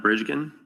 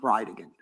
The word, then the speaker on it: Bridegan: It's Jared Gallen Bridgen. And I'll represent to you that it's pronounced Bride again.